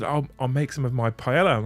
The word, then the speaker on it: paella: Is he pronouncing the L? Yeah, I'm fucking English, Mel. Paella. Not paella, not like that nonsense.